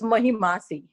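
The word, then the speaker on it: महिमासि: It's Mahimasi. Oh, okay. Yeah. Otherwise, very good. Otherwise, very good. Well pronounced.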